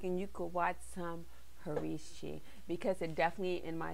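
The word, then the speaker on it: Hercai: episode next up we have harvey she rehearse harishi yeah there's no english translation guys so there's no english translation it's spelled h e r c a a i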